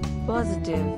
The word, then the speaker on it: positive: is very easy three syllables and the emphasis on first syllable pause positive the meaning of